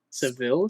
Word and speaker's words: Seville: in uh Seville Spain is it sevil is that how it's pronounced um in Spanish at least my Spanish is called SE SE okay or SE yeah se but you can just call it seile or seil it's it's fine anyways um dude they're